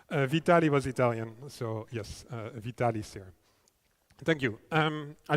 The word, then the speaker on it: Vitali: So I think it's very important that you stick to the right pronunciation of the name because otherwise all the Italians in the audience cringe. Sorry. Yes. Supposed to be Vitalis theorem for God's sake.